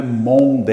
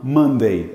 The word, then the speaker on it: Monday: um mande precisão aqui não é Monday Ok não é monde é mamãe mandei Ok estou mandei Então